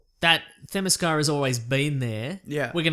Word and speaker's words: Themyscira: was that it's that Themyscira has always been there. Yeah. We're going to get a lot of emails about mispronouncing Themyscira.